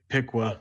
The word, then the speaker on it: Piqua: played on Friday night it's pronounced Piqua sorry sorry my my date and friends will murder me if I let you get away with Pequot I want to call